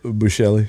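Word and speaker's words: Buechele: then Shane, uh, however you say his name, Buchelli. Bushelli.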